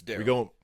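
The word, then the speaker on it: Darrell: Is it Dell or Daryl Jackson? It's Daryl Jackson.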